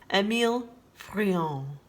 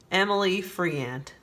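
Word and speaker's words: Émile Friant: this list complete without french painter emil freon or as we americans say emily friend emil friant has beautiful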